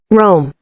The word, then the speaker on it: Rome: Rome. All right. So in English, it's Rome.